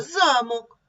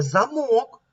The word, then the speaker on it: замок: слова що це це замок а це а це замок Чим же відрізняються ці слова наголосом в слові замок наголос на першому складі в слові замок бачимо що наголос паде на другий склад давайте прочитаємо що відповіла